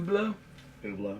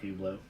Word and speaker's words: Hublot: spelled it for me and how is that pronounced oo oblo yeah oo I call it hublo Jay-Z calls it Hublot does he really no J Jay-Z actually has